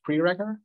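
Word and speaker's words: preregr: It's also, I have an R package pre-regger, which allows you, or pre-regger, or have you pronounce it, basically you pre-regger, pre-reg with an R, exactly, but all lowercase,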